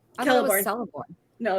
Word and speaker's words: Celeborn: It's, Celeborn was slightly downplayed.